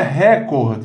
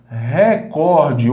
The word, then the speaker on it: recorde: é mais forte tanto a palavra não é record está errado o correto é recorde houve um a ordem